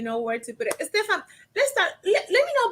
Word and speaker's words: Stephan: It's Stefan. Actually, it's pronounced.